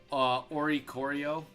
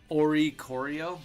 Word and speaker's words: Oricorio: Also, so I mean the Oricorio, I think that's how you say it. Oricorio, yeah, it's really not that bad with this deck.